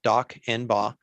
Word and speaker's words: Dawkinbaugh: Next, I'd like to introduce Adonis Dawkinbaugh, and it's pronounced like it sounds, Dawkinbaugh.